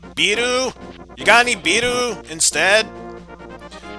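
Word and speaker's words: ビール: Wait, this is from the land of Japan. Let me repronounce that. Biru?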